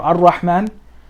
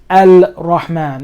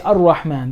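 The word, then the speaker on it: الرحمن: Al or Ar-Rahman, because this is a sun letter, you don't pronounce the lam.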